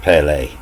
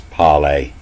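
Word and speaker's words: parley: claim the right to Parlay means they get to speak to the captain but it was actually you know it's it's pronounced Pele there's no R pronounced it's poly and it means you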